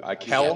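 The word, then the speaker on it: Kele: I don't have it's spelled K-E-L-E is how you spell it. I could tell you that. Kel? Yeah. I think it's Kel. Kel.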